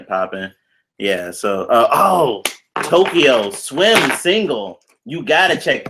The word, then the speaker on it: Towkio: So, oh, Tokyo Swim single. You gotta check that one out. Tokyo. Yeah, it's spelled Towkio.